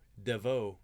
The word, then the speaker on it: Devoe: martin and sabato no devoe not devro there's no r in there devoe right guys i've